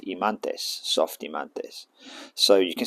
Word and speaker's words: himantes: called in English pronunciation, but it's called an Imanes, and the pair are called Himantes, soft Himantes.